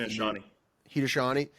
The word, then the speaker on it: Haudenosaunee: I just don't know if I can pronounce it. Haudenosaunee.